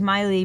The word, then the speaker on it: Maile: loves to see dogs my dog's name is Maile but spelled my li e cuz I didn't want to spell it like Miley Cyrus there is no relation